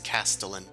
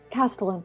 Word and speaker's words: castellan: Oh, Google has told me it's Castellan. Castellan.